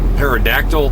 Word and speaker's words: pterodactyl: can't you hear a pterodactyl pee oh I'm sorry I messed that up my case you hear a pterodactyl pee because the P is silent live si oh I'd